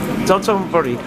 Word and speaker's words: Dotonbori: Donna, how do you pronounce the name of the street? Donna, Donna, Burrito? Dotonbori.